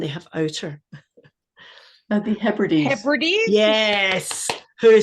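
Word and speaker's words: Hebrides: have inner and they have outer the herdes herdes yes who said that that was excellent again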